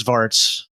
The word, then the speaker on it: Svarts: Good luck pronouncing that. And if you've seen it's Svarts.